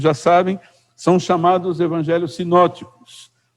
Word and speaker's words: sinóticos: Os 3 primeiros, como eu creio que muitos já sabem, são chamados evangelhos sinóticos. Também se escreve sinópticos, com um P mudo aí no meio.